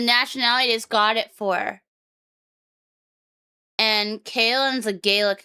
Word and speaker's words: Caelan: You always say it like that, but that's not how you say it. Chill in. Chill in. Chill in. That's not right either. Kalin.